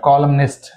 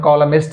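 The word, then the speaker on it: columnist: ఉంది ఇక్కడ సాలెమనైస్ రైట్ కాలం కాలం లో ఏంటి ఎన్ ఇస్ సైలెంట్ రైట్ కాలం లో ఎన్ ఇస్ సైలెంట్ బట్ ఇక్కడ కాలం నెస్ట్ ఇక్కడఎన్ కి ఏమఇచ్చాడు ప్రొనౌన్సియేషన్ ఇచ్చాడు కాలమనిస్ట్ రైట్ మనం కాలమిస్ట్ అనుకుంటాం బట్ కాలమనిస్ట్ right this this is about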